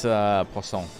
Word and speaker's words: poisson: It's poisson, by the way, is how you say it, macho.